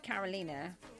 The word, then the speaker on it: Karolina: And that's because in England, people don't know how to pronounce my name because it's spelled Caroline. But I was named after my great-grandmother who was Czechoslovakian. And um that's how you pronounce it there.